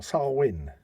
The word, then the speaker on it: Samhain: actually refers to it as Samhain right well sarwin fair enough that's actually sounds a lot more